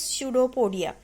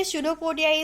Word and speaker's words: pseudopodia: Now last definition is there, which is pseudopodia. Okay, pseudopodia is connected with the amoeba. Okay, amoeba is having false feet like structure is known as pseudopodia. You seems that in this spelling the P is silent.